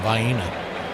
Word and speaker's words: Vienna: We eat our Vina sausages out of the can and pronounce them vina even though I know it's technically Vienna.